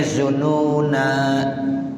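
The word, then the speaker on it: الظنونا: Ya, itu kata-kata zununa dialifin ba'dan nun. Ada boleh bacanya zununa. Nah, begitu. Waslan wa waqfan. Ya, ini lugat yang pertama. Boleh kita bacanya ya wa tazunnuna billahi zununa, baik waqaf maupun wasol tetap pakai alif.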